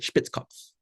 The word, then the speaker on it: Spitzkopf: I wrote it in German orthography because that's, I feel like, how he would have spelled his name living in Vienna. But I still pronounce it Spitzkopf.